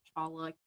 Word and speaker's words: cholla: It's probably pronounced chala, but spelled CHOLLA.